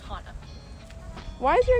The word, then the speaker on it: Hana: What's the most common mispronunciation of your name? Hana. It's Hana.